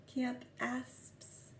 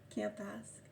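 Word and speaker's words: Campaspe: Camp Asp. Cupid is in Camp Asp. Sorry, C-U. C-A-M-P-A-S-P-E. Camp Asp. It's one word, camp, like going camping, camp. C-A-M-P. And asp, A-S-P-E. Camp Asp.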